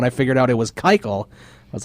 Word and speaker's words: Keuchel: I really want to know why it's pronounced Keuchel when it literally looks like Kuchel. That's what I want to know. Well, I remember during Fantasy Fanatics, I said Kuchel all the way up